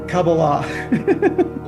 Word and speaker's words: Kabbalah: So this Hasidic or sorry this Kabbalah Kabbalah um Wait, how do you say it's pronounced accurately? Kabbalah. Kabbalah University is a product of this Bnei Baruch? Actually it's Kabbalah.